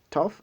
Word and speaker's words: tough: Vous voyez que le GH, par exemple, au niveau de tough, est prononcé comme F.